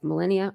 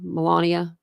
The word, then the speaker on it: Melania: President former president Donald Trump alongside his wife Millennia Mia Melania I was get her name wrong sorry Melania you're not around a lot